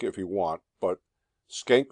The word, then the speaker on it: Schenck: You can pronounce it Schenck if you want, but Schenck v.